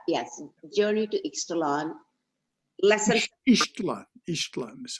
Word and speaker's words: Ixtlan: Ixtlan is how it's pronounced.